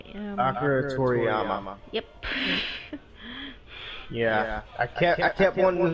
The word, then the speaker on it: Toriyama: And I'm not even gonna pronounce this correctly. Akira Torim. Akira Toriyama.